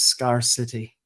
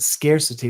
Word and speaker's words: scarcity: what's it like I've heard people pronounce that word as scarcity yeah like two words Scar and city but scarcity like scarce oh it's scarcity it means